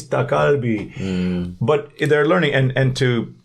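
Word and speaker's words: 닭갈비: How do you say these words? Dalk galbi. It's dakalbi.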